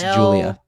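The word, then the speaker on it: Giulia: GI i u bro it's Julia it's just Julia it's just a different spelling Julia why would you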